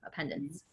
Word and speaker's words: appendance: It means to add to in writing, but it's a pen dance, 2 P's though, appendance. And then appendance is how you say it.